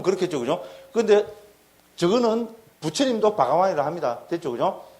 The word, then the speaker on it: 바가완: 그래서 바가완. 한국에서 반 이렇게 이런데, 그죠? 인도에서는 가보면 전부 워 발음을 합니다.